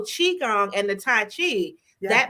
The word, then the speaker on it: Qigong: it wrong okay yes so my mind always goes to cute so Qigong and the Tai Chi